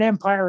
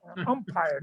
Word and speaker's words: umpire: she always correct me it's not an empire it's an empire umpire not empire you know you know